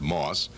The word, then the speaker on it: MOS: semiconductor memories are available metal oxide semiconductor or M O which is pronounced moss and bipolar Moss memories